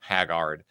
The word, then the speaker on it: Haggard: But the reason I brought up Haggard the movie or Haggard, that's how it's pronounced. Haggard.